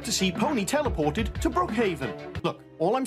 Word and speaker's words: Brookhaven: must be called Brookhaven no I think it's pronounced Brookhaven that's what I say uh guys I think